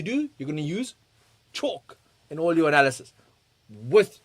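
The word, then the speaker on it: CHoCH: Then we have chalk. Okay, it's spelled ch H O C H. Um and this stands for change of character.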